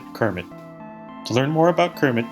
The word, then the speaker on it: CIRMMT: We like to pronounce it Kermit.